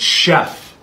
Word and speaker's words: chef: this word is Chef no it's Chef you don't see how it's because it's French oh that's why oh